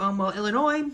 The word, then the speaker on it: Illinois: Yes, my name is Illinois, and I need one airline ticket to, Illinois. No, the S is silent.